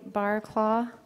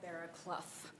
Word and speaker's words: Barclough: Barclaw, please correct me if I'm saying your name wrong. followed by Ben Burdett. It's Barclough, but that's Barclough.